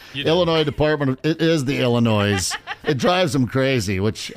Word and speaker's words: Illinois: Department it is the Illinois it drives him crazy which I love you don't pronounce the S well but there's an